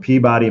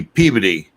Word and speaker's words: Peabody: from Peabody, Mass. That's not too far from you, Richie, is it? That would be Peabody.